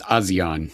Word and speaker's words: ASEAN: James, do they pronounce it ASEAN, ASEAN? The Association of Southeast Asian Nations? I'm just going to say Asian. I think they go with ASEAN, but whatever.